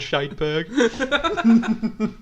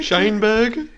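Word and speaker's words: Sheinberg: Your pronunciation of the words are Meckies. And also the man called Scheidberg. What's he calling it? Scheinberg.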